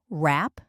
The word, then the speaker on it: wrap: Notice that the W at the beginning of the word wrap is not pronounced.